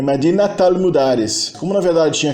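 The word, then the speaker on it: مدينة: O T final do tamarbuta volta a ser pronunciado quando ela é seguida de uma palavra que é um complemento idafa, um complemento genitivo.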